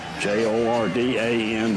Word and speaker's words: Jordan: Charleston told me that it was a Welsh pronunciation that the Welsh did not want to be confused with the Irish so they took the